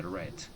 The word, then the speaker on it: read: su pronunciación se dice red. Y aquí se dice red. Se escribe igual, pero se pronuncia diferente.